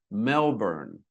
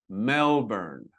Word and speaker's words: Melbourne: Melbourne. Melbourne. And in Australia, where the city lies, they pro they say it differently than I do, but we say Melbourne. And in Britain, they say Melbourne a little bit longer.